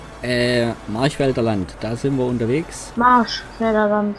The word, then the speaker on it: Marchfelderland: Marschfelderland. Nein, Marsch. Ist kein S drin. Es wird aber so ausgesprochen.